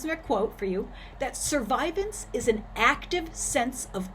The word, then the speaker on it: survivance: some more fancy technology there's an emphasis on survivance this is a really important word within indigenous studies and it will be important in our class it is spelled s-u-r-v-i-v-a-n-c-e all right survivants is an idea or a word that was